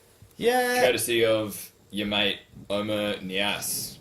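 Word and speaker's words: Oumar Niasse: Everton coming up with the goods, Yeah, courtesy of your mate Omer Niasse. that is how you pronounce his name too.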